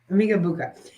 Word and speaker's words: Emeka Egbuka: Yeah, Emeka Egbuka.